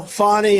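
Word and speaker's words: Fani: funny it's spelled Fanny it's spelled Fanny like your ass right Fanny but when she became da she decided to add a little French a little Fancy funny funny and you know fonny and Mr and Mrs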